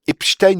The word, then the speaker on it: Epstein: pas si on dit Epstein ou Epstein. Voilà. Les télés américaines, françaises et britanniques semblent d'accord sur la prononciation de Jeffrey Epstein lorsqu'il traite sur le sujet. On dit Epstein, comme dans Rustine.